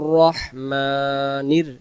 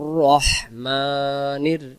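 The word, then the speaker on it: الرحيم: আর রহ আর রহমানির রহিম রহিম রাহিম যেন না আসে রহিম লম্বা হাড্ডা শস্য করে দিতে হবে রহিম আর রহমানির রাহিম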